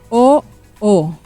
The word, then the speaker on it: oo: O O. It's just two open syllables.